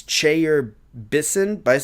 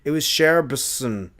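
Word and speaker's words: Chayer-Bisson: he said his name, it was not pronounced the way I have it written, which is it's Chair Bison. It was Cher Bison.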